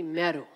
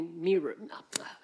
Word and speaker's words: Meeru: me she goes so the Ethiopian staff called me meru and my Punjabi staff called me mirror no that's the Americans um lots of different pronunciations of my name anyways and so it